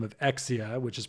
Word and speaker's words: XEIA: And after some various iterations, we ended up um going by this name of EXIA, which is pronounced EXI or which is spelled XEIA.